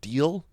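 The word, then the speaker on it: Deahl: Darius Rucker is engaged to a woman whose, I'm assuming her last name is pronounced Deal. It's D-E-A-H. It's Deal with an H before the L.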